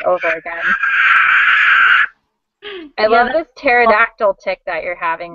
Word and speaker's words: pterodactyl: Pterodactyl. Yeah, my friend plays that game like all the time. I hate that it has a silent P in it.